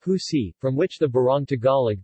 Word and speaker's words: usi: In the municipality of Taal, pineapple leaves are processed to form a kind of cloth known as usi, pronounced husi, from which the barong Tagalog, the national costume of the Philippines, is made.